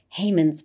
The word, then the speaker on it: Haman: The word Haman, which is actually the Hebrew pronunciation of Haman, is Haman.